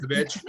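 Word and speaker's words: Nimzowitsch: Nimzovich is like people spell Nimzovich with a W or a V, but I think it's pronounced with a V.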